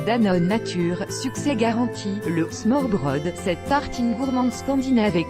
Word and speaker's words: smørrebrød: Mais le smørrebrød, prononcé smørrebrød, se décline à l'envie, et vous pouvez donc